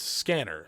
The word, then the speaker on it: SCNR: Subverse eventually changed its name to SCNR, which is pronounced scanner, for a multitude of reasons.